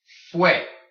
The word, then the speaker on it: fue: Fue. Fue. Remember, because when you have the U and the E next to each other, it makes the way sound.